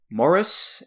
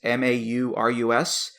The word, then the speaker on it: Maurus: My next pick here, this is an artist, I believe her name is pronounced Elizabeth Morris, Maurus.